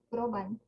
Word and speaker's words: Groban: Apa sih bacanya? Groban.